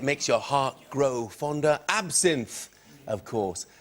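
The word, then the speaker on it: absinthe: your heart grow fond absinth of course told you pronounce it absen but the gag doesn't work quite as well does it if you pronounce it correctly um didn't work very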